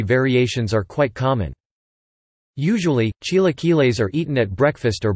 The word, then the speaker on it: Chilaquiles: Chilaquiles, Spanish pronunciation, Chilaquiles, from the Nahuatl word chilaquilil, T-I-L-A-Q-I-L-I-T, is a traditional Mexican dish.